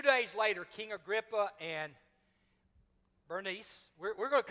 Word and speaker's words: Bernice: A few days later, King Agrippa and Bernice, we're going to call her Bernice. She actually has multiple names in Greek. You could pronounce it, some people pronounce it Berenice, some people Bernice.